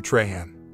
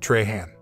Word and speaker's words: Trahan: The woman before him clearly recognized him, even pronouncing his name correctly as Traha, unlike most in the small Colorado town who said Trahan.